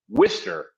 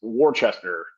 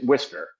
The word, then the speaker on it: Worcester: We pronounce it Worcester. Okay. It's almost like that Worcestershire sauce. Mm-hmm. If you look at the pronunciation, it looks like it's Worcester, but it's Worcester.